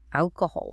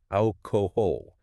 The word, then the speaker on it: alcohol: This is all about the letter L at the end of the word. Ah, the terminal L. Yes, in Brazilian Portuguese, a terminal L is vocalized as a U sound. You say brazu papu. If you apply that to English, you say alcoholo.